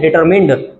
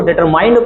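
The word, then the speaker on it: determined: इसको क्या बोलेंगे, डिटरमिन्ड। कुछ लोग इसको डिटरमाइंड पढ़ते हैं तो गलत होता है प्रोनाउंसिएशन इसका, तो इसको बोलेंगे डिटरमिन्ड।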